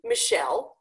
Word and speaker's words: Michelle: And coincidentally, the name Michelle also has that stress pattern.